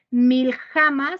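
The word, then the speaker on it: מלחמה: guerra viene del hebreo mil jama se lo voy a deletrear es m y L cade kilo J a m a acento en la última que significa ataque batalla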